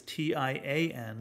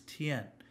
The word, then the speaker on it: tian: final of a word ends in Y-A-N, it rhymes with yen. So, for example, sky is T-I-A-N, looks like tian, but no, it's not, it's tien.